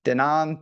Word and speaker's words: Danon: I guess it's Danon. Danon Danon Bourbon. the yogurt. Like the yogurt.